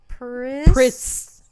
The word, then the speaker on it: Pritz: Pritz. Pritz. Oh, Add a Pritz, like a Pritz. Like a Ritz.